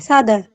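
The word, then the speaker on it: 사다: Sada. Ya, betul ya. Kita bacanya adalah S. Ya, siotnya dibaca S. Sada, seperti itu dibacanya Yorubun. Sada.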